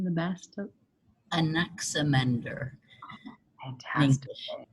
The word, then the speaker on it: Anaximander: Anaximander. Fantastic. Anaximandros.